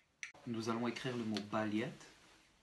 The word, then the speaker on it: балет: Nous allons écrire le mot ballet. B, A, L, Y, T, avec une accentuation finale, ce qui réduit d'autant notre A, qui va se prononcer comme un petit E.